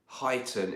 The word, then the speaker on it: Huyton: Huyton is the correct pronunciation of the part of Liverpool where Zoopy is living.